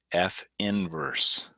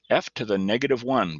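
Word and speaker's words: f⁻¹: and so to emphasize this is pronounced f inverse i put it in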